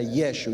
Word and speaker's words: Yeshua: nosotros conocemos como J, en realidad se pronunciaba como una Y, como una Y. Entonces era Yeshua. Y con el tiempo, cuando